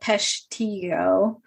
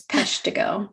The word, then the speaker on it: Peshtigo: it i i think jack was calling it peshtiyo yeah it's peshtigo just for the record yeah i you know